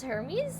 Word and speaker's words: Hermes: and everything like and Hermes Sor not Hermes uh no no no that's how you say his name that's how you say his name is Hermes like does he not